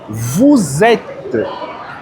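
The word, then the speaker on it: vous êtes: Veja na segunda pessoa do plural, vet. Mas por que eu estou falando vet? Porque em francês existe uma regra chamada regra de lisão.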